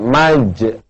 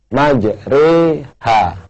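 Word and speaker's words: مجريها: Ada lagi pemirsa yang berbahagia, di Quran tulisannya majroha, tapi tidak boleh dibaca majroha, harus dibaca majreha, ya, kayak kita bilang sate, ya, namanya imalah atau miring.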